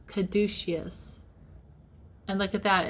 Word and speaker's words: caduceus: the coil the serpent so I pronounced that incorrectly it's caduceus is how you say it not cauticus caduceus and look at that